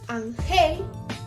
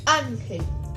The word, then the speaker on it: Ángel: hacer su separación silábica no diríamos Angel porque su fuerza no está en gel sino que está en ano en Ángel O sea que su